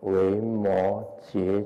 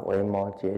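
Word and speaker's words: 维摩诘: 读作觉啊，那我们以后就记得要念维摩诘经啊，维摩诘经这个缘起啊是这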